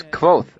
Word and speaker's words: Kvothe: "It's Kvothe, actually," I said absent-mindedly. "The E is silent."